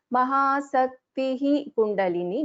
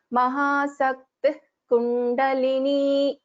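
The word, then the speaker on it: महाशक्तिः कुण्डलिनी: So we will not pronounce the Visarga fully here. Mahasaktihi Kundalini. No, we will pronounce this as Mahasakti Kundalini.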